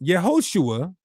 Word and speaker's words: Yehoshua: So, it's pronounced Yehoshua. It has the O sound.